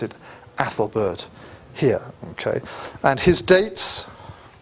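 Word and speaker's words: Æthelberht: e put together okay usually pronounced a as a short but sometimes turned into an e so you might see this name as Ethelbert as well but we'll pronounce it Ethelbert here okay and his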